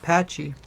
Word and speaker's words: Pachy: Oh, it's pronounced patchy. It does sound very similar to packy.